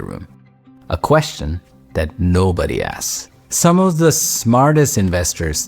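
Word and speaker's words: ASC: I call them the asks. We spell it A-S-C, and it sounds like ask because that's the whole point.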